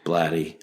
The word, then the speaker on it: Blatty: Blatty.